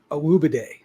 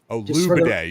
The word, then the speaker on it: Olugbode: I asked him recently how you pronounce his name. It's Olugbode. Olugbode.